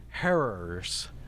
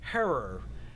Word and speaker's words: Herer: Herer, because it rhymes with terror.